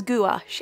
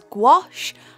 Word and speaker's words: gouache: quickly address something here I pronounce gouache as gouache I know it is also as gouache and also as ghost as I've heard before but really there is no right or wrong between those three pronunciations there my accent as